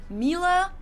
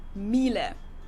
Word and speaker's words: Miele: wrong in English, but English native speakers usually say something like Miele, so it usually sounds more like an A in the end, whereas in German we say Miele. Miele.